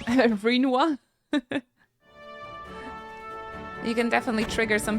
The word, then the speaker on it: Rinoa: I also pronounce Rinoa like it rhymes with quinoa, even though I know it's wrong. Rinoa.